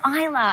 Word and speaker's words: Isla: I was outside anyway, getting the mail, and I said, you know, it's Isla. The S is silent.